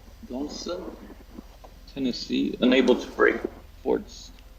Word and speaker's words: Donelson: Grant Union forces at Fort how do you pronounce it? Donaldson. Donelson, Tennessee.